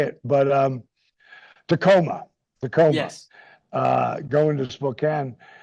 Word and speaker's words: Tacoma: I can never freaking pronounce it. Not Tamako.